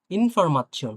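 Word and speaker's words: Information: তো দেখি এরপরে ইনফরমাচ্ছিয়ন, আমরা যেটা ইনফরমেশন পড়ি, ইনফরমাচ্ছিয়ন। হ্যাঁ, এটা পড়েন তো, উচ্চারণ উচ্চারণ করতে পারবেন?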